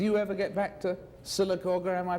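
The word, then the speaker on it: Sylacauga: In fact, I mean, do you ever get back to Silicer? Am I pronouncing it right? That's right. Silicaga.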